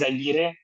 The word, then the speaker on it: Izaguirre: Uh, Izaguirre. tomato, tomato. The way I pronounce it is Izaguirre, but Izaguirre.